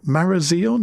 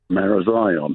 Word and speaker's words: Marazion: Let's go to Paul in a unpronouncable place in Marazon. Is that how you pronounce it, Paul? Marazion. Marazion. I knew I'd get it wrong.